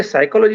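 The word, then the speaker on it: psychology: ऐसी स्थिति में मुझे साइकोलॉजी शब्द जब पढ़ाना है तो बच्चों को बताना पड़ता है कि पी साइलेंट है।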